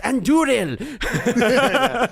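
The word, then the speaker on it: Andúril: It's Anduril. Roll your R's.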